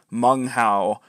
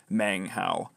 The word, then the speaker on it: Meng Hao: the fact but yes it should be mung Hao not mang Hao sorry about that okay